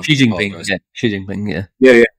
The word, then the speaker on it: Xi Jinping: Xi Jinping, yeah.